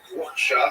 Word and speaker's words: Rothschild: The first H is in guttural. As Billy Crystal says, Yiddish is basically German with phlegm. So you just have to pronounce Rothschild like the Yiddish predecessor word.